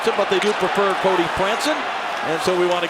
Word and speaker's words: Franson: But they do prefer Cody Franson and so we want to get it right.